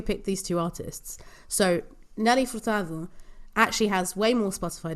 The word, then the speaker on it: Nelly Furtado: Nell f as underrated I will not be pronouncing her name like that that's fine I will not judge you uh and just like you better hey English speakers do not judge me for pronouncing her say name correctly just as I won't judge you for not pronouncing it correctly okay thank you very